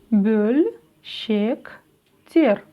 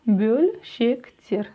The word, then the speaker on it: бөлшектер: Произносим русское слово «пес». Пес. И у нас написано после буквы «п» буква «ё». Правильно? Но ведь она не звучит как «ё». Она звучит как звук «ы», как буква «ы» казахского языка.